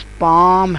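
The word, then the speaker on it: palm: सा जन में रखिएगा कई स्टूडेंट इसको पलाम पढ़ते हैं तो कुछ इंग्लिश के ऐसे अल्फाज होते हैं जिनमें अल्फाज तो लिखे जाते हैं लेकिन वो प्रोनाउंस नहीं होते साइलेंट होते हैं यह लफ्ज पाम है दूसरा लफ्ज है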